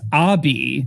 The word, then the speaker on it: Obi: I believe it's actually pronounced Abi. Abi. Which it makes that neither makes sense. Sure. But Abi particularly bothered me, given that it's spelled like Obi-Wan.